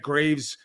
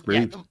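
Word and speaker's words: Greaves: If Greavves or Graves is how you pronounce his last name, the Columbus goalie. Oh, Jed Greavves. Yeah, I think it's Greavves. Yeah, it's Greavves. That's how it's spelled.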